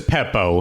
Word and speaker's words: Beppo: one with it's the alliterative Beppo?